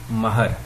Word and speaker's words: مہر: ہم کہتے ہیں مہر، میم کے اوپر زبر ہوتی ہے، عورت کا یہ حق